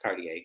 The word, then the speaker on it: Cartier: Bravo, it's pronounced Cartier, but whatever.